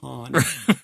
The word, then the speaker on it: Han: It's sort of like Lando in Empire Strikes Back, where nobody had the balls to say it's pronounced Han.